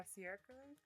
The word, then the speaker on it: Cercle: You mentioned your set at La Cercle. French, yeah, they pronounce it French. It's the crew comes from Paris, so it's Cercle. They would hate to hear me say that. Yeah, no, it's a circle.